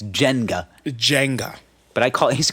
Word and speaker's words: Jenga: We had a little Jenga board. Jenga. Did you call it, back in the day, I called it Jenga. I called it Jenga. Yeah, which that is how it's said. It's Jenga. Jenga.